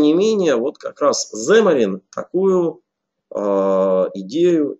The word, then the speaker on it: Xamarin: зе марин его название но если правильно читать с ударением на первый слог земли до но на самом деле кто как произносится мариян кто-то говорит как самое говорит так далее но правильно вообще если англоязычных спикеров послушать они говорят сэм и в чем заключается